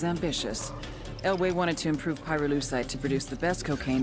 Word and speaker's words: pyrolusite: __ ] happened to him you know what pyrolusite is right yeah neither did I Pyrrha lucite hue syllable pyro by the way is the [